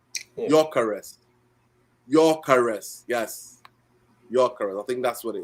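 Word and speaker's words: Gyökeres: Your caress. I think the G is silent. If I'm right, your caress. Yeah, G is silent. Yeah. Your caress. Yes, your caress.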